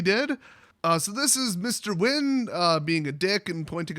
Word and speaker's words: Nguyen: Nguyen, I'm not kidding, that actually is pronounced Nguyen.